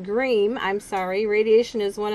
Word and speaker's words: Griem: the doctor uh yesterday dr graham pronounced green i'm sorry radiation is